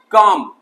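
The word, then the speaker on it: comb: ठीक है, नेक्स्ट है हमारा बी वाला सारा का सारा साइलेंट वर्ड, काम। यहाँ बी साइलेंट है।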